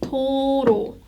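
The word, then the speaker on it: 도로: guess it sounds like toto toto you pronounce this very smoothly and more abruptly than you would think total it means road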